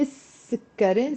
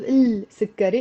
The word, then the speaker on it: السكري: Anytime you put before the sun letter the article l, which means the, you end up not pronouncing the l. So you say السكري instead of السكري, even if the l is there.